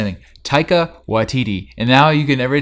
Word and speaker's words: Taika Waititi: i'ma say it once just don't say anything tyka YTD and now you can every time we mispronounce it you just drop it on time